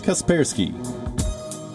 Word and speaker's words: Kaspersky: guesswork see Kaspersky Kaspersky the correct pronunciation is Kaspersky have left picard second